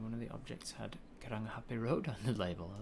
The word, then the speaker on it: Karangahape: You just got to remember that they pronounce all of the letters. There's no silent letters, and that the ng is always ever a ng sound and not a ng, not a ng. There's not a g sound in it.